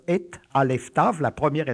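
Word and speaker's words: את: L'accusatif en hébreu, le complément direct, est indiqué par une petite particule qu'on prononce et, Aleph Tav, la première et la dernière lettre de l'alphabet, pour indiquer que ce qui vient appartient au tout.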